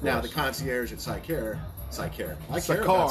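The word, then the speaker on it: Sikar: the concierge at Sycare. I care Cigar. about Sycare. Cigar. That's spelled S, Sierra, India, Kilo, Alpha, Romeo for the military folks across All right. seas. Sycar, S-I-K-A-R.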